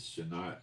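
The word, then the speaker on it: שנת: The normal word for year is Shana. Instead of a tut sound at the end, a toy, it's a hay sound. So this is that same word that's used to describe year of recompenses, Shanat, not Shana.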